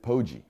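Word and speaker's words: Poggi: this week later dead against our boy Biff poji not pogi by the way spoiler alert for this network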